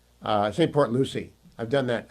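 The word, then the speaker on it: Port St. Lucie: new affiliate in um St. Port Lucia. Uh St. Port Lucy. I've done that. I've been pronouncing it in the Spanish way.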